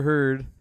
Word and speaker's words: Heard: But but uh Amber Heard uh rhymes with turd like that.